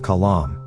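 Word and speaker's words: qalam: For instance, Egyptians do not pronounce the letter cough, so they say alam instead of kalam pen.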